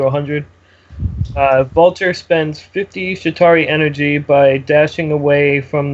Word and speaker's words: Chitauri: the fight at full shitari shitari spell it uh c h i t a R UI yeah it's chitauri it's uh the the